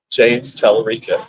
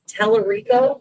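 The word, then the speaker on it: Talarico: James Telerico. That's who she's. Telerico.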